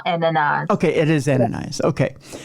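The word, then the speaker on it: Ananias: how you say yeah it's ananas it's like in the Bible ananas okay it is ananas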